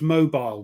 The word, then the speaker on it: Mobile: the Battle of Mo what how did you pronounce mobile we pronounce It Mobile you pronounce it uh